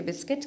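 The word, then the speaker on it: biscuit: बिस्किट सबको पता है किसी के बाद यू है वह साइलेंट है इसको बिस्किट नहीं बल्कि बिस्किट कहते हैं बिल्डिंग में भी आ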